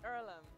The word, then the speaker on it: Earlham: me okay so is it ireland is it pronounced earlham it's earlham and it's a place for amateur farmers athletes